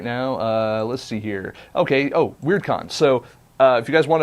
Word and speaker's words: WyrdCon: And remember, that's spelled WYRDCON. And they are also on Twitter as well. They're at WeirdCon.